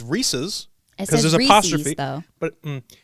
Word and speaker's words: Reese's: is a guy rhys it's a last name that's like saying allen's if this said allen's would you say allen's pieces well no so when it says reese's because there's apostrophe though